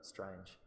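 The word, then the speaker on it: L'Estrange: in that strange and in French you pronounce ignore the apostrophe just pronounce it as if it was a one-word look strange and grackle alright so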